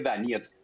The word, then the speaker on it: Donetsk: Donetsk se llama, se escribe Donetsk, se lee Donetsk.